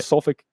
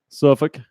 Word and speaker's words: Suffolk: there you go yeah you actually said it wrong it's just is it okay the L is silent Suffolk alright dude so coronaviruses upon